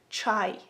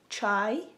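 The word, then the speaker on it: чай: decided to tell you how to say tea in Ukrainian. So if you wanna say tea in Ukrainian, you would say it like chai, chai, chai.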